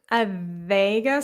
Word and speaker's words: adega: Is the pronunciation of adega, is it adiga or adega? It's more towards adega, so the first one. Adega. I would say open the E a little bit more.